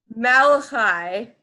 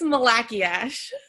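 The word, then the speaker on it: Malachiasz: Malachi. Nope. It's Malachiash.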